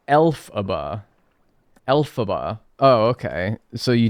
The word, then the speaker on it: Elphaba: It's pronounced Elphaba.